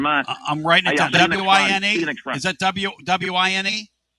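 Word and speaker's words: Wein: W-I-N-E. Is that W-I-N-E? W-E-I-N, but it's spelled, but they pronounce it Wine.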